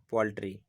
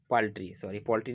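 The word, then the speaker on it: paltry: Next देखते हैं very small और मर्ज, यानी बहुत कम, दैट इज पोल्ट्री। पोल्ट्री नहीं, पाल्ट्री।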